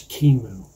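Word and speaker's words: QEMU: recommending that you learn how to use kimu which is spelled q e m u and that's the that's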